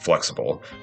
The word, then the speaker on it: Flxible: The Flxible company, pronounced Flxible, was an American manufacturer of motorcycle sidecars, funeral cars, ambulances, intercity coaches, and transit buses based in Ohio.